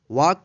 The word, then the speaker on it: walk: तो यहाँ पे देखिए के से पहले एल आया है, इसलिए एल का उच्चारण नहीं हुआ है, इसको पढ़ेंगे वॉक, इसको वाल्क नहीं पढ़ेंगे, नहीं तो गलत हो जाएगा।